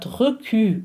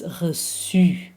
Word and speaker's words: reçu: The E is a silent one. It's re, but it's not recu, it's reçu.